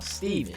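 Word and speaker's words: Stephen: Someone I consider to be one of the most evil movie villains of all time, Steven. But throughout this video, I call him Stefan because it's spelled Stefan.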